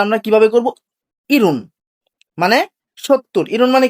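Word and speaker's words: 일흔: সুইন 50 ইয়াসুন 60 ইরুন।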